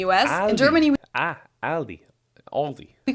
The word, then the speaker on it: Aldi: people say Aldi or they also sometimes add an s that isn't there in theend yeah because